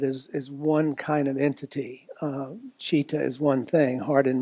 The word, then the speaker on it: citta: The Pali word citta, it's spelled C-I-T-T-A, is usually translated to mean heart and mind.